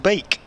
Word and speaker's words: Beek: dbkate she says the beak of the Logan variety is pronounced bake two e's together in Dutch is pronounced as an a thank you Ms Brown